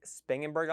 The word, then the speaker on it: Spangenberg: Spangenberg.